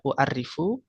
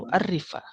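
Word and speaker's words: أعرّف: U'arrifu ya, uridu an u'arrifa ya, tadi bacanya u'arrifu. As-sahih uridu an u'arrifa.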